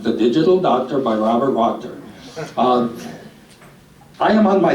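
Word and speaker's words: Wachter: one the digital doctor by Bob wter yes it Rhymes the digital doctor by Robert roor uh I am on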